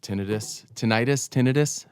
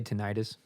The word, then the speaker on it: tinnitus: This girl was like, "Oh yeah," because I was worried I was getting tinnitus. You're a professional. How do you say this? I'd say tinnitus.